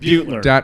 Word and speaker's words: Beutler: Beutler.